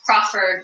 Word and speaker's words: Crawford: And Crawford, like Cindy Crawford.